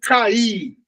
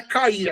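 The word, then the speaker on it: καί: Alguns pronunciam cair, mas na verdade não é cair, é cai.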